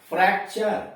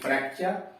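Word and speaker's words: fracture: Rule number 6, जब किसी शब्द के अंत में यू आर ई हो, कोई भी शब्द है जिसके अंत में यू आर ई हो तो यू का उच्चारण अ होता है। यानी ऐसा कोई शब्द है जिसके अंत में यू आर ई आया है तो वहां पर यू का उच्चारण जो होगा वो अ होगा।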